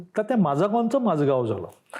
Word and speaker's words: माजगाव: आहे पहिल्या पुस्तकामध्ये मी माजगाव घेतलय तर मी माजगावच म्हणतो पण माझ अचानक लक्षात आली माजगावची स्पेलिंग आपण ज्या रूढ पद्धतीने लिहितो तशी नाहीय स्पेलिंग नुसार वाचायला गेलं ते माझा गॉन आहे मी म हा